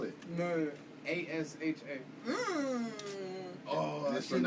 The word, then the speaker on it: Asha: No, A-S-H-A. Mm. Oh, I Just shouldn't have pronounce said what? that. Look, Asha. Like, Ash, I guess, A. But, like, with the long A.